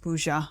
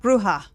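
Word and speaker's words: Brujah: Oh, not Buja. My fucking god. Bruja.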